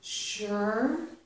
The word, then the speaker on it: sure: camera all right be sure so this um s here Su is making a sh sound sure be sure to arrive